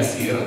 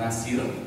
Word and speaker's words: Yasir: Bapak Ibu, perkenalkan nama saya Yasir. Ejaannya adalah Yegi Alpha Sierra India Eco Romeo Yasir. Mohon untuk tidak memanggil saya dengan sebutan yang lain, karena kadang-kadang ada orang yang memanggil saya dengan sebutan Nasir, Yaris, dan Wasir, Bapak Ibu.